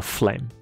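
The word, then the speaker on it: phlegm: 那痰叫做 flame，不是火焰，火焰是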